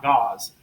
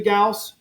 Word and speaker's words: Gauss: is the gas and I've always really clearly pronounce this word Gauss it was Carl Friedrich Gauss is last name not gauze and one Gauss is